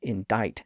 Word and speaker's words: indict: of a crime well the C Sound was lost in the word indict as it passed through French it came into English